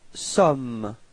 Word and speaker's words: sommes: Then for nous, you've got nous sommes. Okay, final S is not pronounced.